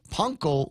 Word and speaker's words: panko: They've got the crispy panko fish fillet. And that's the way it's pronounced. It's called, if you call it panko, Japanese will laugh at you.